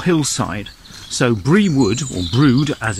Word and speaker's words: Brewood: means hill or hillside so brie would will brood as it's pronounced simply means would on a hill the canal through brute is set in a cutting so we'll describe